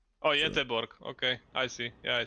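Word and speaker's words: Göteborg: But yes, uh, Gothberg. Uh, oh, Yetorg. Okay, I see. Yeah, I see you. I see you on the map. It's pronounced Yborg.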